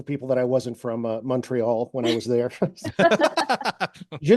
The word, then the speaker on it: Montreal: Same actually with Montreal. That's a giveaway too. If you say Montreal, you're not local. Okay. So MUN, Montreal. There were other giveaways for people that I wasn't from Montreal when I was there.